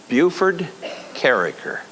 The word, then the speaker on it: Bufe Karraker: And this guy said, Bufe Karraker. Now when somebody does that, I know they knew me way back when. They pronounce it right.